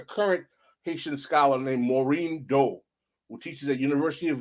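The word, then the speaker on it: Daut: There's a very good book written by a contemporary, a current Haitian scholar named Maureen Doe, who teaches at University of Virginia, where she has a compendium of the work of Baron de Vasté.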